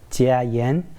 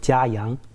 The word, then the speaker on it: Jia Yang: A lot of people, they say my name as Jia Yen, but in China, people say Jahyang.